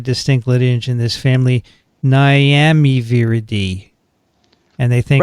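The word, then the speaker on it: Nyamiviridae: lineage in this family niamey viridi and they think right i just wanted to say miami sounds like miami but it begins with n as in negatives there you go it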